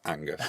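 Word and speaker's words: H'Angus: Pronounced Angus. Angus.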